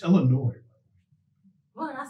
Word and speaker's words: Illinois: It's Illinois. What did I say? What did I say? It's Illinois. A lot of people so the say S Illinois. is not pronounced? S is not pronounced.